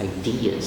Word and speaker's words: ideas: Ideas. Second syllable stress.